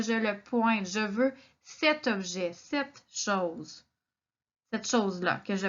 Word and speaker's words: cet: Donc, d'abord, on entend la différence. Il y a un T à la fin du cet. Je dis ce fromage ou cet animal.